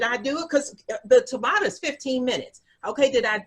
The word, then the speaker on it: Tabata: what is that you're saying what what it's tabata it's spelled uh t-a-b-a-t-a and it's a form of